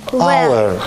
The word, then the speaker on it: our: Our. Our. Yes. Our. Давайте напишем. Обратите внимание. Вот так пишется это слово. Буква O. Но первый звук, звук А.